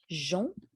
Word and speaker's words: Jean: OK, donc Jean versus jeune. D'accord? Parce que j'ai entendu jeune, mais c'est Jean.